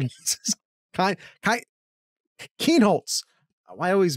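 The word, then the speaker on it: Kienholz: And of course, then again, maybe Lincoln Klein is Keenholz. Why I always mispronounce his name.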